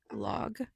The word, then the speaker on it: Lagu: I said logged, but I meant log. LOG. And is a log again, but it's spelled Lagu, means law.